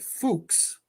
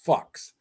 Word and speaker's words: Phux: Now, he pronounced it Fuchs, but everybody else pronounced it Fucks.